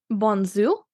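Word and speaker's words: Bonnezeaux: I'm basically learning that I definitely do not pronounce X's when I'm saying French region okay sorry I got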